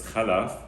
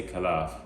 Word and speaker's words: Khalaf: pronouncing my name correct it's khalaf a lot of people say kalaf and actually when we